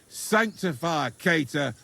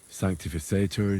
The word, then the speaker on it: sanctificetur: You're saying it wrong. Listen. It goes like this. Pater Noster, qui es in celis, sanctificetur nomen tuum.